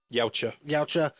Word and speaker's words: Yautja: How'd you pronounce it? Yautja.